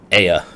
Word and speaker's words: Ea: Aya is how you pronounce it.